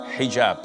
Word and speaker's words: hijab: otel or Alo but this is an Arabic word so we Muslims we have to say hijab secondly it is permissible